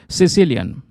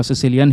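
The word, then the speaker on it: caecilian: तो ये जो दोस्तों यहाँ पर एम्फीबियन है इसको हम बोलते हैं सिसिलियन। ठीक है, इसका कुछ स्पेलिंग इस तरीके से आपको नज़र आएगा, प्रोनाउंसिएशन इसका सिसिलियन ही यहाँ पर किया जाता है।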